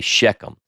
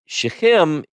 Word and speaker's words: Shechem: So we can say it like I say it in the South, we say Shechem, but Shechem, we go to the